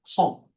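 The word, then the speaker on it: He: 그다음에 커널 이니셜라이저 하고서 여기를 어 제가 뭘로 하기로 했냐면 해 허 허라고 읽는다고 한다.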